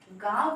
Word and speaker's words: गाँव: तो इस वजह से जब चंद्र बिंदी लगी हुई है तो आप गा जब बोलेंगे तो आपका जो है उच्चारण जो होगा नाक के द्वारा होगा।